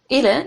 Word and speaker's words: Ile: Ile, am I saying that right?